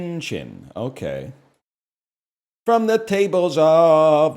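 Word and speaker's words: qin: Called the, well, let's see what Wikipedia has me pronouncing it as. A kin? It's chin.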